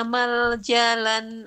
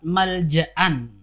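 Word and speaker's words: ملجأ: Ibu Sri perhatikan ya di lafadz malja'an. Tadi ibu bacanya dengan maljalan ya. Harusnya itu hamzah ibu ya. Law yajiduna malja'an, bukan maljalan.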